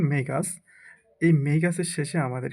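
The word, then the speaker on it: magus: What is the plural form of ম্যাগাস, অর্থাৎ এটা বা সঠিক উচ্চারণ মেগাস।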